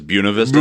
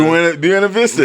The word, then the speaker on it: Buena Vista: But everybody that lives there pronounces it as Buena Vista. Buena Vista. Yeah, that's not how you pronounce that. Like, listen, if you're from there, it's Buena Vista. It's Buena Vista. You call it Buena Vista, they can tell instantly you're not from here. You're not local.